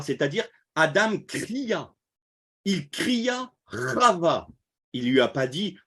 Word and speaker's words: Chava: Alors, ça s'écrit comme ça, c'est Chava en hébreu.